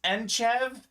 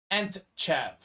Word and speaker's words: Enchev: My last name is Enchev. There's a silent T in it, so I often get my last name pronounced Entchev or Entachev.